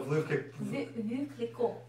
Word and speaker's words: Veuve Clicquot: Veuve Clicquot. Is that how you say it, or is it Veuve Clicquot? The T is silent. So Veuve Clicquot.